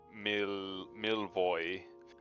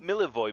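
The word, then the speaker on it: Milivoj: Pretty sure that a J like that would be an I. Yeah. So we Milvoy, I think Milvoy, Milivo, Milivoy, Milivo is that makes sense.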